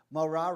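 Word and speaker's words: מורה: MO moah is teacher morah rhymes with Torah Torah means the teaching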